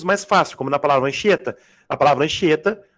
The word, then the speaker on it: Anchieta: Tem outros dígrafos mais fáceis, como na palavra Anchieta. Na palavra Anchieta, o CH é um dígrafo. Porque você não vai ler Anchieta. Né, Robson? O H não é pronunciado, caramba. Então ele tem som de X, anch.